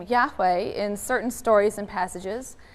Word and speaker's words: Yahweh: J and East sources J being pronounced yeah in German right as a why so we Yahweh is spelled with the J so the J and